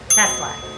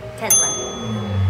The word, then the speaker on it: Tesla: Tesla. Busy. Say this word. Busy. All right, and now say this word. Tesla. Okay, so you pronounce it with a Z. Yeah, busy. Okay, now the second word. Tesla.